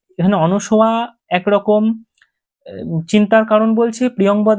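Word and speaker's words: অনসূয়া: এবার এখানে দেখো যেরকম আমরা প্রথমেই জানলাম যে প্রত্যেকটা চরিত্র, অনসোয়া, প্রিয়ংবদা, গান্ধর্ব বিবাহ, এই যে টার্মগুলো তোমরা পেলে, এই টার্মগুলো সম্পর্কে একটু জেনে নেওয়া তোমাদের দরকার।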